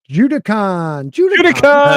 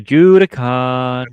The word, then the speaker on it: Judicon: Judicon. No, you're saying it wrong. You got to go Judicon. Right. Emphasize the last one.